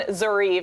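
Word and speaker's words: Zoryve: You touched on Zarieve and it's funny you guys told me, hey, it rhymes with believe.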